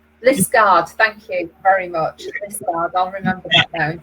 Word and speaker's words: Liskeard: Thank you very much, Liskeard.